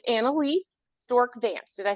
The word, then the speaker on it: Anneliese: while uh we're listening and talking um it's anaise stor Vance did I say it correctly Analise yeah yep and st's my maiden name it's